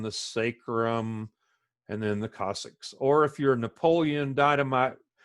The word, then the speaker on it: coccyx: sacrum and then the Cossacks or if you're Napoleon Dynamite fan uncle Rico says grandma broke her coccyx it's not exits Cossacks with AZ like it has exercises it that is the Cossacks you will hear all